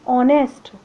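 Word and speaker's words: honest: करेंगे इसी तरह एंड ऑनेस्ट ऑनेस्ट में भी हमारा एक साइलेंट है और इसमें जो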